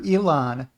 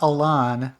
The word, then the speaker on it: Elon: straight to class e e is for Elon not Alan like uh Paul eisenstein wants to pronounce it you could say say